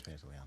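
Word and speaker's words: Pantoliano: Yeah, it is Pantaliano.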